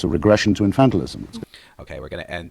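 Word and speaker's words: infantilism: let's pronounce it together infantalism infantalism so the stress is different from the noun which is infant this one is infantalism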